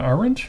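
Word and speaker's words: Arendt: maybe think of Hannah orange yeah orang I didn't know how to say her last name that's because there's a silent D at the end that's only partially silent yeah you know you've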